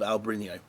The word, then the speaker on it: Albariño: does something quite special to the taste of Albarino.